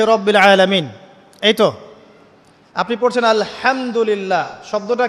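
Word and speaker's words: الحمد لله: আপনি পড়ছেন আল্লাহু আকবার আলহামদুলিল্লাহি রাব্বিল আলামিন এইতো আপনি পড়ছেন আলহামদুলিল্লাহ শব্দটা কি আলহামদুলিল্লাহ হা এর মাখরাজ কোথায় হা এর মাখরাজ কোথায় বলেন একজন কণ্ঠনালীর মাঝখান থেকে এখান থেকে আপনি উচ্চারণ করছেন আলহামদুলিল্লাহি রাব্বিল আলামিন অর্থ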